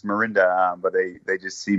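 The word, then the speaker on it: Mirinda: first name right - they you know it's Miranda but they they just see morinda and pronounce it Miranda so fine your daughter's name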